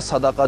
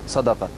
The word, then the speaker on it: صدقہ: جو صدقہ ہے اس کا صحیح تلفظ ہے صدقہ جو قرآن نے بھی استعمال کیا دال کی زبر کے ساتھ صدقہ.